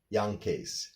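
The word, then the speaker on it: Jankee: well it's actually pronounced more like Yankays.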